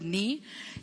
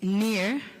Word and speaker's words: Nie: So for now, I know how to pronounce the word ni, and it's near. It's not ni, because that's what I had said initially, but it's actually near.